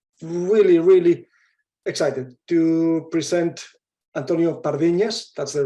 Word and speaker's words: Antonio Pardiñas: um really really excited to present Antonio parvinas that's the right pronunciation as to for everybody who comes from